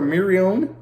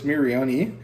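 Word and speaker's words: Miorine: want to call her Marion but the way that it's said in Japanese the e at the end is pronounced so it's miriani um and um or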